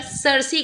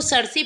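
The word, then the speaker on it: Circe: इसको सर्सी पढ़ेंगे, आप चाहें तो सर्स प्रोनाउंस करिए, वैसे भी प्रॉपर नाउन को आप अपने अकॉर्डिंग प्रोनाउंस कर सकते हैं, तो वैसे इसका सही प्रोनाउंसिएशन सर्सी है।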